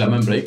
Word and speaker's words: Amen Break: El más famoso de estos ritmos fundamentales se llama el Amen Break o el Amen Break, según como lo pronuncies.